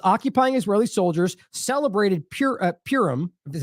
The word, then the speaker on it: Purim: It says occupying Israeli soldiers celebrated Purim, is how you say that, by raping Palestinian women in Al-Shifa Hospital, which, by the way, has been roundly reported.